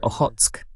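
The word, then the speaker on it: Okhotsk: del Mar Negro, y siempre lo pronuncio mal, es Ojotsk, allá en el lejano oriente.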